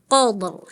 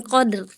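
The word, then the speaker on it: قدر: Tebelin, qadr, jangan qadr.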